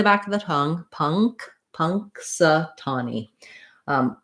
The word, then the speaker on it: Punxsutawney: punk punk satani um letter u says vowel schwa the uh sound and then our stressed syllable is the tah syllable here that's going to be longer and have the clear vowel it's the same vowel as in the word saw the rounded ah you can use that word saw to help you with